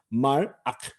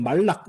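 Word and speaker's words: מלאך: 자, 파타의 다음에 단모음 다음에 쉐바는 묵음 쉐바 말악. 네, 여러분 발음할 때 이거 그냥 말락 이렇게 발음하지 마세요. 그러면 뭐랑 헷갈리냐 하면은 여러분 멜렉 왕이라고 하는 단어와 헷갈립니다.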